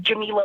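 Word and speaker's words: Jameelah: and may begin hi everyone my name is jamila spelled j-a-m-e-e-l-a-h last name um i'm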